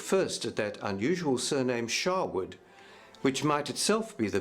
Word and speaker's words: Sherwood: an A, so originally Sherwood, though spelled with an E, was pronounced Shawwood.